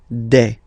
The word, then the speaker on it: des: All right, here s you pronounce it like e. Okay, un, une, des.